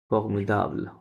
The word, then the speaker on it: formidable: দ সব সময় দ হবে তাহলে দ okay, কখনোই ড হবে না ফর্মিডাবল Formidable.